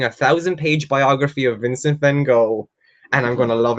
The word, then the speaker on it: Van Gogh: Van Gogh the Life, or Van Gogh, if you want to do the original pronunciation.